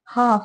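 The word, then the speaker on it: half: होती है ठीक है हाफ एच ए एल एफ हाफ इसमें एल जो होता है वो साइलेंट होता है ठीक है हाफ का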